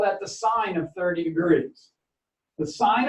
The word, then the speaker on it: sine: three major trig functions sine theta you write it you can skip the letter e it's still pronounced sine not sin there's enough of that around it's still turn out sine okay sine of theta